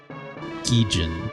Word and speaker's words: Gijin: Also, the pronunciation of it is specifically Gijin, right?